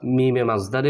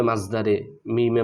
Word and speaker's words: مصدر ميمي: মাজদারে মিমি যেটাকে আমরা মিমে মাজদারে বলে বেশি চিনি মানে বা মিমে মাজদারে মিমে মাজদারি এরকম বললে বেশি চিনি তবে এটার সঠিক উচ্চারণ হচ্ছে মাজদারে মিমি মাজদারে মিমি এবং মায়ে মাজদারিয়া এই